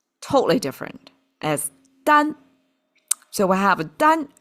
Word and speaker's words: 耽: And it's pronounced totally different as Dan.